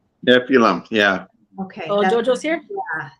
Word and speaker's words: Nephilim: Nephilim? Nephilim, yeah.